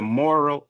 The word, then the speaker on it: Morrill: into it and and and State under the moral Act of 1862 and moral is spelled m o r r i l l